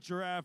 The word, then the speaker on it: Giraffe: On the red line says 4610J Giraffe Robot Rev, which they have requested that we pronounce it Giraffe very explicitly.